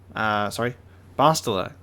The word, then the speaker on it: Bastila: Bastila. I almost slipped back into my previous pronunciation.